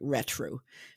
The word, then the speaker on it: RTRO: I think it's pronounced like retro, but it's spelled RTRO, and it is very bright, very bright and cheerful.